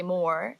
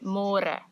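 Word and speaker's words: môre: easier but it just you have to remember to read more because in English it's spelled like more so don't say more say more and the older Generations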